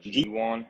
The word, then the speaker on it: Jiwon: yeah it's actually pronounced gwan it's like the letter g in the number one yeah that's Korean it's